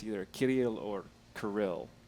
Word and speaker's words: Kirill: And he's like, by the way, it's either Kirill or Kirill. So I can say Kirill if I roll the R.